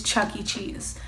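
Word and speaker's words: Chuck E. Cheese: it both ways but the first way I did say it was Chuck E cheeses and I was told that I'm saying it wrong and that it was Chuck-E-Cheese but I do want to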